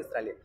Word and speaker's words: Australia: arriba, para abajo, Australia, Australia, Australia. Resulta que lo estaba diciendo mal. Alguien me dijo, no, no, señores, no se dice Australia, se dice Australia. Y yo, Australia. Como estrella.